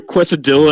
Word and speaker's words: quesadilla: Quesadilla.